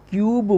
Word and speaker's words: cube: है, उसको पता है नहीं ये क्यू नहीं बोला जाता है, क्यूब बोला जाता है, लास्ट में बी है। लोग क्या इसको समझ लेते हैं, क्यू बोलते हैं।